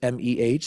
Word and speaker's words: meh: Their life is described with three letters, M-E-H. That's pronounced meh.